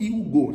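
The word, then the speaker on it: Yiwugo: donc 1 global donc Hugo ça s'écrit comme you la la ville de you et puis Go donc ça fait Yi W u g o donc c'est une plateforme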